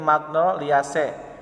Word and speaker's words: magnoliaceae: magnoliales lupa miliknya magnoliaceae jadi ketika ada kata ea di akhir itu dibaca dengan e hai jadi magnoliaceae jadi cek ini bukan c tapi es dibacanya dia magnolia c lalu genusnya michelia spesiesnya